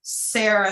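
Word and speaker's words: Seira: It's It's pronounced Sarah.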